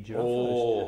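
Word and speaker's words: Jaraf: It was a good reason, and it's spelt quite oddly as well. It's spelt J-A-R-A-F. But it's called a giraffe house because Trevor, who was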